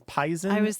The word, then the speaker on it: poison: me is there is the pronunciation of poison as y as pisen and I was just